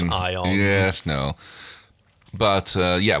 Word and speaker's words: ion: slight exposure to yeah Eon radiation oh that's not how you pronounce ion yes no but uh